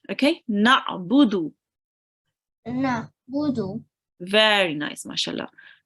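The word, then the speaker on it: نعبد: Make sure to read the ain from your throat, okay? Na'budu.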